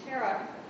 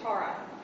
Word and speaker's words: Tara: 21 aspects of Green Tara which uh which terara her name is spelled as Tara in tietan is pronounced Tara and she pronounces